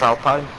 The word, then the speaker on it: Alpine: That's Alpine. It's pronounced Alpine.